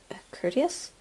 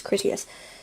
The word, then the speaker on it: Critias: Courteous? Critias. I keep pronouncing his name wrong. It's Critias.